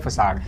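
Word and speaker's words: façade: करना कंट्रोल करना next word is फसाड इसको फसाड पढ़ते हैं फसाड क्या होता है डिपेक्टिव डिसेप्टिव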